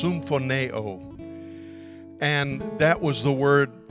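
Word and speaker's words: συμφωνέω: When Jesus told us about the power of agreeing in prayer, he used a word that is pronounced symphoneo, and that was the word for agreement.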